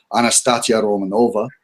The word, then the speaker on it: Anastasia Romanova: And for some reason, Anastasia Romanov's name came up, or Anastasia Romanova, to pronounce it properly. I keep getting told by my friends who speak Russian that I've got it wrong.